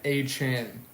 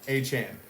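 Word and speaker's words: Achane: built different player of the week is Devon a Chan and that's how you say it I just learned a Chan so he came out after when you scored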